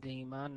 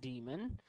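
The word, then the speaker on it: daemon: D for Damon and I do pronounce it Damon not demon um it's the frangang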